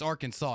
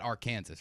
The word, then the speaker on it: Arkansas: it's not gonna do that it's arkansas not our kansas right like you can't